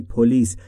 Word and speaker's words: police: پلیس که معرف حضورتونه یعنی پلیس. در مورد تلفظ پلیس دقت بفرمایید. استرس روی بخش دوم روی ال. پلیس. نگفتم پلیس. پلیس یعنی پلیس.